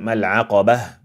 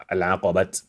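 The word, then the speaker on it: العقبة: When it is active, we make it very simple, adraka, and then mal'aqabah, stop on a silent ha instead of al'aqabat.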